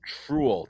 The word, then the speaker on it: truel: Oh, it's Truel, Truel. It's Ah, like Truel okay. with the With the TR. tr in front.